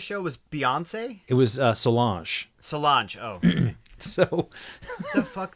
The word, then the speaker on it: Solange: Anyhow, so I almost got to see Solange. Or Solange? Solange.